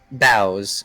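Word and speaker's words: boughs: you so bowels yep even though it's prone uh spelled like uh boofs or something because b-o-u-g-h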